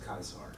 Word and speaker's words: Caesar: it I close enough Caesar would be pronounced kaisar kaisar yeah but is